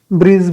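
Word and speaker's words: bridge: ब्रिज, ब्रिज में D silent है, ठीक है।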